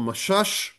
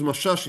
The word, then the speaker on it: Mashash: So either it's that or that. That's the name Messas or Mashash. I would use Mashash. It's easier for me to pronounce.